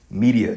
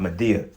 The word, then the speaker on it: Medea: his witchcraft okay so it's actually pronounced media not medea okay but media makes